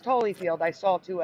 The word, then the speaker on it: Holyfield: hollyfield even though again it was only ever pronounced Holyfield I'm not saying it was pronounced hollyfield never pronounced hollyfield I just always saw